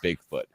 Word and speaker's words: Bigfoot: the way he said Bigfoot. He would say it like Bigfoot. Like he always put emphasis on the big.